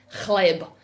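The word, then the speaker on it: hleb: fantastic word in serbian it's khleib you have to say it like you've got something stuck in your throat so you need some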